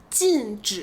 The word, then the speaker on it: 禁止: 还有个词容易混淆 There’s also a word that’s easy to mix up with this one 禁止 (to forbid). 禁止这个词没有后鼻音 This word doesn’t have the nasal sound at the end.